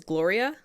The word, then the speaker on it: Gloria: Like with the double L making a Y sound? No. Her name is just Gloria. I know, but is it spelled the same way as Glorilla, but the double L, like in Spanish? No. Gloria. No. Gloria. Her name is Gloria.